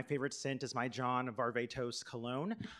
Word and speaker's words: Varvatos: scent is my John Varvatos cologne I learned the other day that it could actually be pronounced John Barba toss so take that take